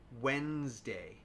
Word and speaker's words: Wednesday: Bridge, sandwich, Wednesday.